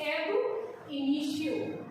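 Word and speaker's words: ab initio: इसको बोलेंगे हम, इसका प्रोनाउंसिएशन जो है आप बोलने का तरीका है उसका जरूर जो है एम्फेसिस दें, उस पर ध्यान दें कि इसे हम बोलते हैं एब इनिशियो।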